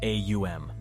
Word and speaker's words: om: outcomes is the Sanskrit word om often pronounced as AUM when the body is